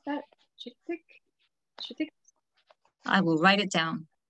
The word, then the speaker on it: Chittick: I mean, really, for English speakers, any work of William, how to pronounce that? Chittick?